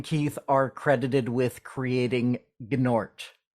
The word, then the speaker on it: Gnort: You and Keith are credited with creating Gnort. Yes, the G is silent.